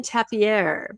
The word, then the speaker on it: tapir: Okay, it's pronounced different ways. In my family, we did the French version, tapir, because it was our spirit animal of our family.